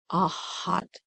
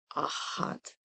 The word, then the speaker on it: Ahad: heart is that portal Ahad is spelled a h a d a hot a hot Ahad and it means